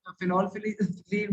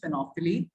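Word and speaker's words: phenolphthalein: तो this is basically the correct pronunciation is फिनोफ्थलीन, ठीक है, बट यू कैन से it whatever you want.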